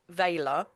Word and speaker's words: Vala: Um, so it starts off as uh veiler. Um, which I pronounce Veiler because Veiler is usually connected with veils and it stops me from trying to say Valor um because that word comes up as well.